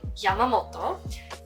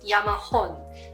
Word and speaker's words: Yamamoto: pronounced as moto so in a surname yamamoto you read it as moto however my first time when i met a person without surname i thought their surname was yamahoon and everybody laughed at